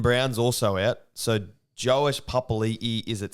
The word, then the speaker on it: Papali'i: So they do pronounce it Papali. Because he doesn't have that apostrophe between the I and the I. Yeah. It's just Papali.